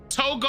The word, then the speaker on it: Togo: to greet you Togo okay that's how it's pronounced Togo okay yeah no disrespect to these real authentic